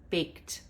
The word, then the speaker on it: baked: And you can talk about how the ED there is making the sound of T, baked, and why that is.